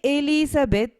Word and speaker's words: Elizabeth: it is an exception Elizabeth when I say Elizabeth the stress is on the E part but there is no